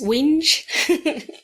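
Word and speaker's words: whinge: guys say complain so you can pronounce winge Wing having a wing H having a wi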